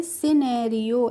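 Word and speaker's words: scenario: तो इसको हम पढ़ेंगे सिनेरियो एस सी ई क्या हो गया सी यहां पर भी देखिए हमने एस सी ई सी को नहीं पढ़ा है अगर हमने सी को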